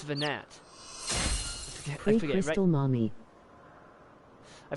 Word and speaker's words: Venat: The T is silent in Venat. Venat, oh. Okay, like Dumas.